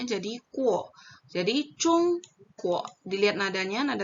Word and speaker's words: Zhongguo: Nah, berarti G plus UO bacanya jadi kuo. Jadi, chung, kuo.